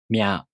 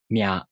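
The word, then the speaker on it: みゃ: For example, Mya Myu Myo. These are pronounced with the M sound for mi plus a, u, o.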